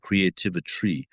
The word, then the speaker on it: CreativitRy: And I use the name CreativitRy, which I say rhymes with chemistry and also sorcery, because we're sorcerers.